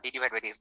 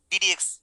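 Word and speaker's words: d/dx: সবাই লিখছে ডিডিএক্স ডিডিএক্স ডিডিএক্স, সবাই ডিডিএক্স, ওকে ফাইন। আমি জানি এটা হচ্ছে তোমাদের তপন স্যারের বইতে লেখা আছে, ডিডিএক্স বলবা, ডি ডিভাইড বাই ডিএক্স বলবা না।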